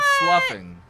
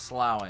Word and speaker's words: sloughing: flashlight flashlight why couldn't he use the word sluffing yeah sluffing sluffing sloughing kids don't know what that means I don't like that word it looks like it it looks it looks like it's pronounced slowing if you're know I know